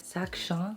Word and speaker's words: Sac Chien: three and we finally decided to purchase this sakshan that's how you say it the dog carrier and this is in the size 50.